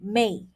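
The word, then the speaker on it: měi: Let's look at the sound um mei. All right, m e i, mei. And I am going to be choosing the third tone. So it sounds like this. Mei. Mei.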